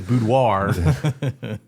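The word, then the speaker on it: boudoir: Well, I think the English way to say it is budoir.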